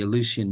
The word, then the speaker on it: Eleusinian: The Eleusinian Mysteries is one that comes to mind because it rhymes with elusive.